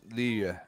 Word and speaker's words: Liyue: Yeah, it's funny because when we first started doing it, they were like, all right, the pronunciation is Liyue.